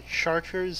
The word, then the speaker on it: Chartres: what that means is in French they pronounce CH like SH, like the idiots they are.